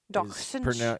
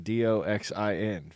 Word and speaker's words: dachshund: Well, I just didn't realize that dachshund Dachshund. is pronounced dachshund. Yeah. That would have been Doxin for me.